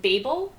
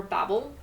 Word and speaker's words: Babel: Also the same day I started that I actually finished Babel or Babel depending on however you want to pronounce it. Apparently she the author doesn't care how you pronounce it. It's up to you.